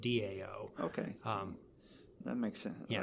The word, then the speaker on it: Tao: But it's still pronounced Dao because the T is pronounced as a D.